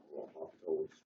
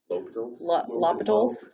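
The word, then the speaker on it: L'Hôpital: derivative was 0, then L'Hopital's rule, or however you pronounce it, wouldn't be useful. L'Hopital's? L'Hopital's? No, it's L'Hopital. It's L'Hopital.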